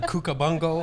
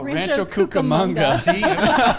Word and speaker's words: Rancho Cucamonga: or isn't that where it was the kookabunga no rancho cucamonga it was a cool